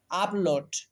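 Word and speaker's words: upload: আপলোড। খেয়াল করো এই বানানে আমরা শব্দের প্রথমে ইউ পেয়েছি। এরপরে দেখো পরপর দুটি কনসোনেন্ট চলে এসেছে পি এবং এল। এইজন্য ইউ কে আমরা আ এর মত উচ্চারণ করব।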